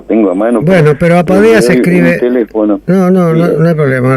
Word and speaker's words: Apadea: Bueno, pero Apadea se escribe... No hay problema, lo van a buscar. Apadea es como suena, Apadea, Asociación Argentina de Padres de Autistas.